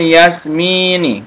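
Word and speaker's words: ياسمين: Syajaratul yasmini. Jadi bacanya jangan yas, enggak boleh ya. Jadi langsung syajaratul yasmini atau syajaratul yasmin.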